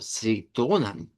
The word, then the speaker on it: citron: En francés existe este término, solo que en francés no se escribe con Z, se escribe con C. eh, y, y suena como citronne, bastante parecido al Dutch.